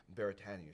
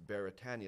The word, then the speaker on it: Beretania: who don't know is Beretania is actually a Hawaiian word and it's properly pronounced